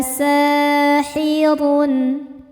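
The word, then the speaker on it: سَاحِرٌ: Huruf ra dibaca secara tafkhim karena berharokat dhammah tanwin. Cara bacanya ditebalkan.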